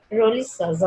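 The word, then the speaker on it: Rolihlahla: There is no S is written, but when we pronounce African accent, it is Roli Shaza Mandela.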